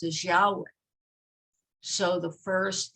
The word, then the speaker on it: Yahweh: times it's pronounced as Yahweh. So the first letter is the Aleph, Yah, and then And actually, the name of God is really breath. Yah, an in breath. Yah, and then an out breath.